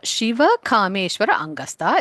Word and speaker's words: Siva Kameswarangasta: So Siva Kameswara Angasta is the right way to pronounce this Nama.